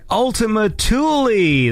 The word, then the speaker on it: Ultima Thule: This is Evader with the track Ultima Thule. That's how it's pronounced, because it is a Kuiper Belt object, but we won't get too far into the nerdiness of that.